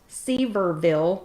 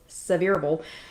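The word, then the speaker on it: Sevierville: 104 in several and again that is not seaverville so you when y'all read this later it is not c reveal it's severable anyway those are mondays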